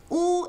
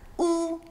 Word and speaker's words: ㄨ: Now oo is like when you see someone trip and fall on their face and you're like that's got to hurt. Ooh. The pinging is u when the oo is in the middle